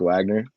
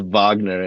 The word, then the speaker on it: Wagner: this guy bro yeah but um uh fron Vagner I love that Paul Pierce is just calling him Frank Wagner and Frank it's bronze Vagner and he kept calling him Frank Wagner and